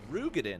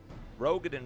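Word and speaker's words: Roegadyn: The fact I didn't learn until recently, the Ro in Rogadin is pronounced Ru. Oh, it's Rugadin, huh? Rugadin. I didn't know that either. But most folks say Ro anyways. Rogadin rolls off the tongue for sure.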